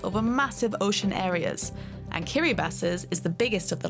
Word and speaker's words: Kiribati: And yes, it is pronounced Kiribati, that's how it's pronounced in the local language Gilbertese.